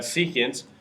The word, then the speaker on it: secant: ratio which is going to be secant we pronounce that secant is going to read the reciprocal of cosines